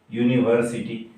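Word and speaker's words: university: आता याचा उच्चार काय आहे, तर याच्या उच्चाराची सुरुवात होते यूने, युनिव्हर्सिटी.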